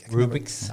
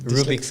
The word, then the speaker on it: Rubik's: which could manipulate the cubic the cubics cube rubrics rubik's i can never pronounce it rubik's cube there you have it and uh and